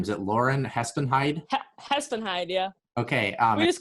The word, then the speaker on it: Hespenheide: Hespenheide, yeah.